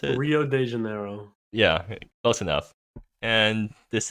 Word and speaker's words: Rio de Janeiro: gonna be talking about is Grand Prix uh Rio the De Niro is that how you pronounce it Rio de Janeiro yeah close enough and this is also GP